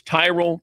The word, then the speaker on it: Tyrol: It's Tyrell pickleball shoes. You spell it Tyrol.